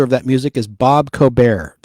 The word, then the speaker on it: Cobert: Now, the original composer of that music is Bob Cobert, C-O-B-E-R-T. The T is silent.